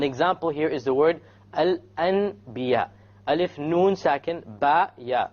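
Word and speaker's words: الأنبياء: So we don't pronounce it Al-An. We change the Noon into a Meme. And then we do a Ghunnah.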